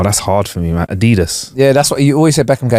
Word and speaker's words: Adidas: And then I still pronounce Adidas wrong, but whatever. What? Adidas is meant to be Adidas.